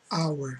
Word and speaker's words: hour: O H não tem som, hour.